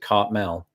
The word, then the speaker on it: Cartmel: It was Cartmel. And that's how we'd pronounce it, Cartmel. There was a T in it, but it was very similar.